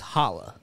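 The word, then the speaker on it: challah: don't mean first of all all this is Hala and habad say it right say it habad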